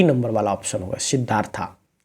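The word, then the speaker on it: Siddhartha: number वाला option होगा सिद्धार्था क्योंकि इंग्लिश में थोड़ा सा इस तरह का उच्चारण होता है सिद्धार्थ हिंदी उच्चारण होगा लेकिन इंग्लिश में सिद्धार्था होगा द बेकर फ्रॉम गोवा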